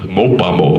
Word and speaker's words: MOPOPOMO: So this is modern, postmodern, or MOPOPOMO. Kind of rhymes with Kokomo, you know, like Bermuda, da doo da da da doo da doo da, way down in Kokomo. So MOPOPOMO.